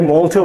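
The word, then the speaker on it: malt: এটাকে মল্টও বলা হয় অনেক সময়, দুইটা প্রোনাউন্সিয়েশন, একটা হচ্ছে ম্যাল্ট আর একটা হচ্ছে মল্ট।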